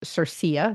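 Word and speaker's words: CIRCIA: infrastructure Act of 2022 which is pronounced as its abbreviation cersa C CIA so Drew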